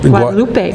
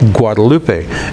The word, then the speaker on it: Guadalupe: the University of Texas, most people call it Guadalupe, but it's pronounced Guadalupe. Guadalupe.